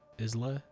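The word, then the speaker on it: Isla Fisher: Is that how you pronounce her name? Isla.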